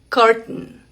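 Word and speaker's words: curtain: En esa palabra vas a pronunciarla así, carton. Carton. M. Si ves que se detiene acá, carton.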